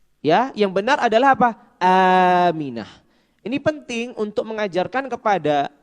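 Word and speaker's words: آمنة: Aminah. Ini penting untuk mengajarkan kepada anak-anak kita, untuk mengajarkan hal-hal yang dasar dengan pengucapan yang benar. Ya, ibunya Nabi bukan Aminah tapi Aminah.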